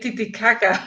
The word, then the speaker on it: Titicaca: it's called a lake titicaca like you stressed all the right you know uh syllables that was awesome um